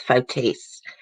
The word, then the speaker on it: Fotis: of course okay so that's how you really pronounce his name guys not photos it's fotis doulos faced murder kidnapping